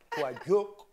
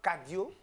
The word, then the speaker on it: Kadio: Ouais, ben, elle a prononcé ça en corogoyen, sinon Voilà, c'est Quadio. Quadio, mais c'est Cadio.